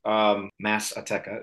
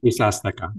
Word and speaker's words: Misa Azteca: Mass Azteca, is that how you say it? Misa Azteca. Misa Azteca.